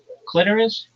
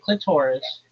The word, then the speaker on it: clitoris: clitoris, not clitoris. It doesn't rhyme with the sorus. It rhymes with almost like icorus clitoris and um menstruation.